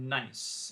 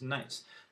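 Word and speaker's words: gneiss: shouldn't have that one number four is called nice it's pronounced nice not nice and this is a an example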